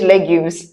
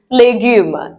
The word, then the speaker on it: légumes: Yes, it's not the English legumes. Vegetables in French is légumes.